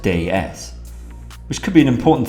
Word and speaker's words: DS: stands for day s which is actually french for god s and is pronounced day s which could be an